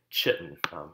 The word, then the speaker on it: chitin: This leftover skin right here is pure exoskeleton made up primarily of the polysaccharide we call chitin, or as the Brits say, chitin, not chitin yet.